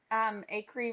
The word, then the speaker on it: Acree: Oh, Acree rhymes with bakery. If you say bakery the same way I do. Some people say bakery in 3 syllables. But I'm from Louisville, Kentucky, and we say bakery. So Acree, bakery.